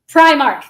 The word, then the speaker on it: Primark: I know I'm gonna mispronounce it. I feel pressured. Primark? Primark.